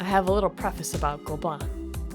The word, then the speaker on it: Gobelins: Before I get into everything about it that is flipping amazing, I have a little preface about Gobelins. Gobelins? Agh, thank you French,for all those silent letters.